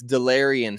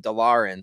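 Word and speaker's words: Delarrian: then delerian turner yell and it looks like de lauren should be his name but it's delarian so for those that listen to lockdown broncos you're going to know how to pronounce this guy's name when everybody else is calling him delorean so i just know delirian not the delorean cody we're not going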